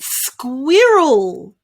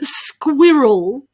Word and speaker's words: squirrel: squirt roll square rule your turn got it squirrel squirrel you might not use this word that often but it's important to learn the pronunciation just in case squirrel well done such a tongue twister the next